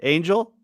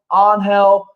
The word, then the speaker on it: Angel: my name very wrong some people pronounce it as on hell and uh believe it or not one person even pronounced my name as anal oh come on no